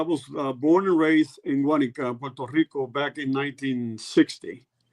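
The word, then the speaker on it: Guánica: Guanica.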